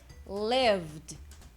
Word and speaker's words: lived: então o som do Ed aqui vai ser lived lived lived então vai ser um VD VD